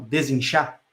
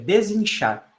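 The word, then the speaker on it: Desinchá: É Desinchar. É como se fala desinchar, só que o char no final é chá, né? De chá mesmo, de chá verde e assim por diante.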